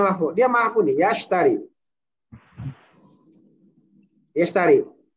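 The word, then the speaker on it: يشتري: Yashtari. Ini bacanya yashtari apa yashtariu? Yashtari. Yashtari.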